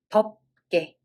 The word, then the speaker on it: 덥게: So when we read it as 덥, and then it's followed by g sound of consonant. So this is 덥게, 덥게.